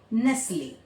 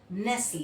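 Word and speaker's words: Nestlé: है वो साइलेंट है एक एक ब्रांड है आप लोग उसको बहुत यूज करते हैं nstle nstle ले यहां भी टी क्या है? साइलेंट है।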